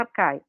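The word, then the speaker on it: Archai: Então, tem um grupo aqui de pesquisa do Departamento de Filosofia que chama Arcai. Se escreve Achai, tá? Mas é Arcai.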